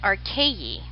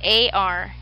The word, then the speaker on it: archaea: I say it archaea because that's how I was taught.